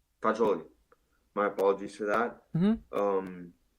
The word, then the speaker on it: Fagioli: Fagoli? Fagioli. Fagioli.